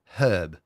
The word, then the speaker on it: herb: golf clap garlic and herb steak that's the way uhhuh uh-huh I like it and if you want you can pronounce the h I'll let you Hub garlic and hub steak so garlic and herb